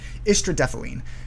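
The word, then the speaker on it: istradefylline: um with the star on top right um istradephalene um this is how you pronounce that word underneath that that bar um so ischidaphalene is a parkinson's medication that has been used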